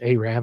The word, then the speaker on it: Arab: And that's the way we pronounce it in Alabama. I'm not making any disparaging comments. It's Arab, Alabama.